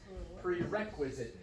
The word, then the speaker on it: prerequisite: Prerequisite. That's strange because the word require is on that second syllable normally, right? But we're instead stressing on that syllable, requisite, which is strange.